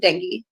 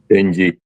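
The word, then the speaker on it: Dengie: Babe, did I pronounce that right? Denji or is it Dengi? Denji. Denji. I was right the first time.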